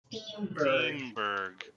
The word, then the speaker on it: Steamburg: is known as steamburg steamburg yeah not not to be pronounced not to be confused with Steinberg no it's steam like it's all very steam it's all very yeah